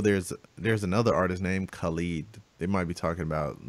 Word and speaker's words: Khalid: on communication so that's I think his name is pronounced Khalid it's very yeah cuz